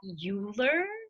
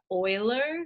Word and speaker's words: Euler: do not pronounce that euler you pronounce it euler so it kind of sounds like euler like gas and oil not euler okay so euler is